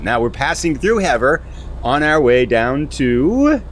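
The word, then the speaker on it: Havre: I said it in the last episode was harv because I was thinking the Green Bay Packers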